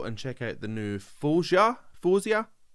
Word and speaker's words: Faouzia: check out the new Foia. Foia. I just watched a video of her pronounced her own name. Fosia. I'm pretty sure she said Fosia.